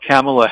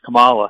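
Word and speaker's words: Kamala: morning I believe uh camela Harris Camala Harris I should say I didn't pronounce her name is going to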